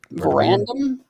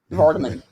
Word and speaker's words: Vardaman: Verandum? Vardaman. Got it.